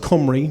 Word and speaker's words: Cymru: there is a team Comrie this is correctly pronounced Comrie most people don't know that this is actually